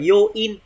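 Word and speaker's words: 余韻: Atokata mô nạc thử, chữ này đọc là yoin, dư âm yoin mô nạc thử, không một chút vết tích, không một chút dư âm đúng không?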